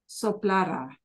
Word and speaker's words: soplará: and to talk about one guy doing it, soplara. But notice how it's pronounced.